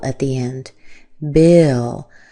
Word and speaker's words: Bill: Bill. And watch out for the I. It sounds like I, not E.